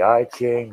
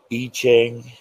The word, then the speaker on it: I Ching: can call it the i-chain the e-chain whichever one i think the correct pronunciation is itching but it looks like i ching so it could be either way tomato tomato all right